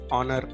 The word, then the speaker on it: honor: becomes silent corner like honor her such cases so here if you see h is silent and it gives a vowel sound an r so we